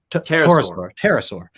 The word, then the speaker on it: pterosaur: How do you say it? Pterosaur. So it's a giant pterosaur. That's a tricky one. Yeah, the P, man, it throws me off.